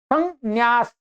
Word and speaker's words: संन्यास: इसकी ध्वनि है सम संन्यास।